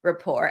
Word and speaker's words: rapport: it like this um we don't pronounce the T at the end this is silent T So Rapport and in French you